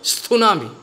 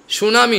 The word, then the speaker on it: সুনামি: শেষ যখন সুনামি স্থুনামি actually উচ্চারণটা হলো স্থুনামি সুনামি নয় বাঙালিরা বলে সুনামি সুনামি যখন এলো তখন